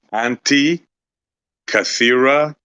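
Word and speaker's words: Antikythera: how to pronounce it it's pronounced anti catha mechanism right there it is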